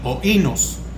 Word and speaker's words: oínos: vino viene es oínos, es el griego, es oínos, así como lo escucha, O-I-N-O-S, acento en la I, oínos, que viene del griego